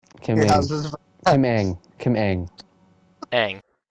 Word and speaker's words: Ng: pronounce her last name? Kim Yeah, Ang.